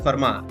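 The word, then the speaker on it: Fermat: Furma said it's pronounced as ferma although it's written as format.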